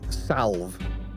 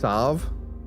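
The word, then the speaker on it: Salve: I was also like technically salv is meant to be pronounced savv.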